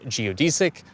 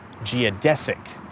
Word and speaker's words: geodesic: We have two mispronunciations throughout the video. I use the terms spectroscopy ↓ and geodesic, they're actually supposed to be pronounced spec-tros-kuh-pee and gee-uh-des-ik, respectively.